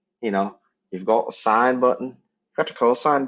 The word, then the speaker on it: sin: going to be used when i write s-i-n you're pronouncing a sign you're not saying sin it's sign c o